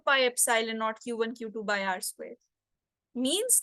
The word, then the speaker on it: Epsilon: is this this symbol this means this is pronounced as Epsilon okay this is what is meant by the